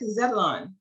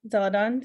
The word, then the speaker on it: Zeladon: Did I pronounce that correctly? I think I always butcher your name. It's okay. It's a little different. It's Aisleth Zeladon.